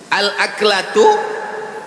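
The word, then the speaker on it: الأكلة: Al-aklatu bifathil hamzah. Cara membacanya hamzahnya baris atas.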